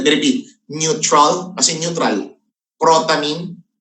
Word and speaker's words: protamine: protamine hagidorn let me repeat neutral kasi neutral protamine protamine Okay protamine p r o t a m